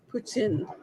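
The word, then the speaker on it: poutine: I had to tell this is the correct way to pronounce put in me in steak fries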